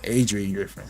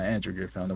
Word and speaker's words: Adrian Griffin: my Improvement hoser again yeah Adrian Griffin not Andrew Griffin where I got that